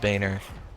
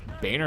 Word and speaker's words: Boehner: John Boehner. That's not Boehner is like B A Y N E R.